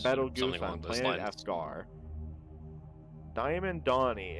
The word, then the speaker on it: Betelgeuse: Is that how you pronounce it? Yeah, Betelgeuse. Betelgeuse on Planet Escar.